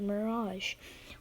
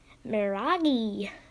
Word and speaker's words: Mirage: number five we have a mirage or as some people who don't know how to pronounce things incorrectly say maragi is passive is now